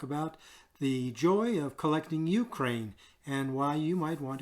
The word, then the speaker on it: Ukraine: Okay, it's not the Ukraine. It is simply Ukraine. Like you don't say the Australia or the Canada. It is Ukraine.